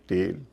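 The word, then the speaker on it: tail: इन सब में ए आई सबके बीच में है और उसका उच्चारण हो रहा है ए। लंबा वाला ए ना कि ऐ।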